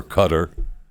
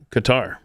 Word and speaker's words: Qatar: He pronounces it Qar.